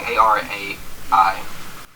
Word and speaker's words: Arai: Ari? Not Ari? It's like Arai.